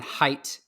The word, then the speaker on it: Height: The way you just spelled my name is I always I'll say and then height, and I'll just usually say like how tall you are as a shorthand because people always assume that it's spelled differently.